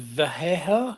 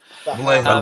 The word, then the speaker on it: Vallejo: Is it Vallejo? How do you pronounce it? Vallejo. For Vallejo. Vallejo, these. that's it. Vallejo.